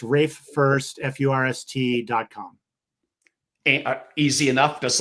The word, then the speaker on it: Furst: pronounced Rafe, and last name, easy to pronounce first, but there's kind of one of two options. I don't want you to pick the wrong one. It is F-U, pardon the pun, R-S-T, again, F-U-R-S-T, Rafe Furst.